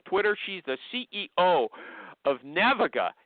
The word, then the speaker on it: Naviga: She's the CEO of Naviga, n a v i g a. Did I spell pronounce it right or wrong?